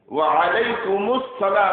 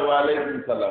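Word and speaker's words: وعليكم السلام: তারপরে সালামের জবাবে ওয়া আলাইকুমুস সালাম, ওয়া আলাইকুমুস সালাম ওয়া রাহমাতুল্লাহ বলেন তো, শুধু বলা হয় ওয়া আলাইকুম সালাম, ওয়া আলাইকুম সালাম এটা হবে? উচ্চারণ সহি হলো ওয়া আলাইকুমুস সালাম, ওয়া আলাইকুমুস সালাম ওয়া রাহমাতুল্লাহি ওয়া বারাকাতুহু।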